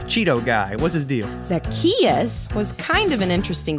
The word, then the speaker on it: Zacchaeus: with that name there zach chaise how is anyone supposed to pronounce that uh like this zacchaeus zac no zazachino what no it's like zach just say it after me zacchaeus zackarecka dingdong all right